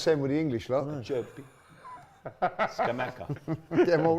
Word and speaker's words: Acerbi: a Acerbi, not a Serbi, Acerbi. which actually is his surname as well. Okay. You probably get Oh, about wow. 4 out of 10 with the English lot. Acerbi.